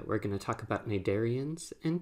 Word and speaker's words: Cnidaria: This is one of those strange Latin words with a silent C, but we'll see that also will be true for our next phylum, phylum Ctenophore.